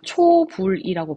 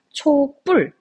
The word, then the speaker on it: 촛불: 초등학교 부를 생각을 해보면 우리가 초불이라고 발음을 하는게 아니라 촛불 혹은 촛불이라고 발음을 하거든요 이렇게 발음된다는 걸 표시해